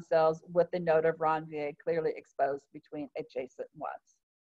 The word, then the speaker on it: Ranvier: called a node of Ranvier. If you listen to Dr. Schoppe's lab talk, he pronounces it different, but this is actually a French dude's name, and it actually is pronounced node of Ranvier instead of, I don't